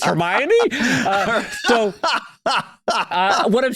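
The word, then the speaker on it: Hermione: you know for example I pronounced hermion Hermoine the night the first four books mentally I pronounced it hermo until I went to a movie and I was like wait it's hermy so uh what I'm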